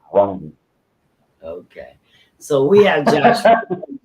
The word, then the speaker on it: Runge: Last name, I pronounce it Runge, but Runge. it's spelled. There's a professional baseball umpire that apparently has the same last name, and he pronounces it Runge.